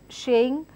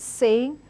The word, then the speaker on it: saying: So word mispronunciations can happen when I replace sa and a sh. So I end up saying sugar, sugar. I end up saying shaying instead of the word saying.